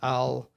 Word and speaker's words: Al-Janabi: in my phone, but I have it as Al-Janabi. Yeah, thank you. Just like it's spelled.